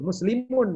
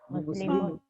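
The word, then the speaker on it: مسلمٌ: Muslimun itu. Muslimun. Zahaba ilal masjidi li sholati subhi. Muslimun Ibu. Nah, gitu. Jangan muslimu nanti bacanya. Ya. Nanti kalau muslimu kupingnya orang yang ngerti sakit.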